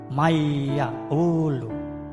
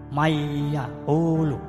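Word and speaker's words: من يقول: Maka membacanya dengan mendengung atau berdengung, yaitu dengan ucapan mayyaqulu, mayyaqulu.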